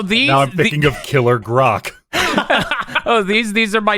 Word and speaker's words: grok: up with you that that word is actually pronounced grok i've only heard it